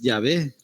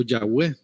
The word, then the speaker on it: Yahvé: forma se fue perdiendo Cómo se pronunciaba hoy se dice que es yahvé o Yahweh si está en inglés y bueno Y si